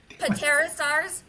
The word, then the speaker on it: Pterosaurs: Pterosaurs? The P is silent.